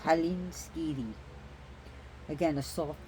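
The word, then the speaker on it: Hallinskíði: n s k i d i but it's pronounced Halen ski again a soft D like a d the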